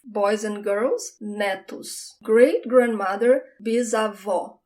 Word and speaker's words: bisavó: Great-grandmother, bisavó. Again, I have the open sound, bisavó.